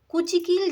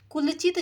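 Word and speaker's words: कुंचिकल: Now right answer is कुलचित झरने। ठीक है, सॉरी कुचिकल झरने, इट इज a pronunciation mistake.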